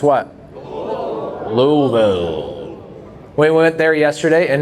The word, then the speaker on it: Louisville: We had a lot, by the way, it's pronounced what? Louisville.